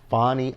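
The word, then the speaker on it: Fani Willis: So Fonnie, I think that's how you pronounce her name, Fonnie Willis, down there in Georgia.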